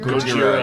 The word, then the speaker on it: Gojira: Gojira.